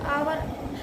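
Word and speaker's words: hour: का प्रयोग करते हैं, जैसे एन आवर, an honest man. इसमें एच साइलेंट होता है ना?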